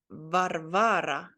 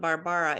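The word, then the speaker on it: Варвара: You have to remember this is a V, like we saw in the bird picture. So this is Varvara, Varvara. It's funny. It's not Barbara. It's Varvara.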